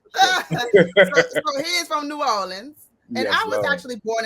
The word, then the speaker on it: New Orleans: this correctly because it's it's not New Orleans. Yeah, it's New Orleans.